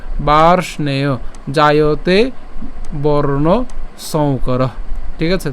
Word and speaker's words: বার্ষ্ণেয়: এখানে রেফের উচ্চারণটা র হসন্ত হবে এবং মূর্ধন্যস হসন্ত পর্যন্ত আমরা উচ্চারণ করছি, তাহলে এটা উচ্চারণ কেমন হয়? বার্ষ। এরপরে কি থাকে? নেয়, বার্ষ্ণেয়, বার্ষ্ণেয় জায়তে বর্ণ সংকরঃ।